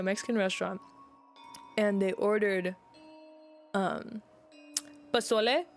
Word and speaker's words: pozole: Yeah, but one thing, they went to a Mexican restaurant, and they ordered pozole, which is how you pronounce it, but they pronounced it pozzoli, and I'm like, it's pozole, not pozzoli.